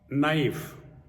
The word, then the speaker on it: knife: f e see uh knife Dash K is silent psychology Dash p is